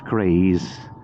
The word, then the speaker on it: Caerhays: Takes you via Emmick and Vault Beach and then down to Caerhays, which is often pronounced for the locals Caerhays, but as I said, you know, that's my version of it.